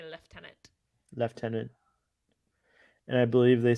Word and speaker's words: lieutenant: They pronounce when in British English they say Lieutenant.